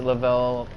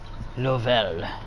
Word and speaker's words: Lovell: Yeah, yeah, a lot of people pronounce it Lavelle quite a bit. Lovell.